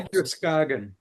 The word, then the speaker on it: Androscoggin: And that is Androscoggin.